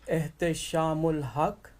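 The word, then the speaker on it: Ehteshamul Haque: My name is Eh Shamul Hak and I am the central Imam at Islamic Society of Greater Houston which is called ISG.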